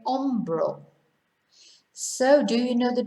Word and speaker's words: hombro: Hombro, shoulder. So they couldn't be much more different, really. So remember not to pronounce H.